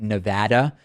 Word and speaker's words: Nevada: had this conversation about the right way to say Nevada not Nevada Nevada anyway this user is